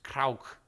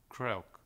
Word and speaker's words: Kreuk: Kristin Kreuk, which is actually the Dutch way of pronunciation. I asked her about that. Because I was like, what is it? Kriek, Kruik, Kraninemen? What is it? It's Kreuk. But to the layman, it's Kreuk, which is a very subtle difference.